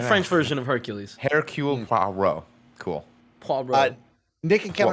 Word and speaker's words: Poirot: People are saying in the chat it's pronounced Poirot. Yeah, that's it. Is that correct? Poirot.